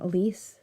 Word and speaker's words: Elise: next week and um Alise um Elise am I saying your name wrong yeah no that's right uh I have to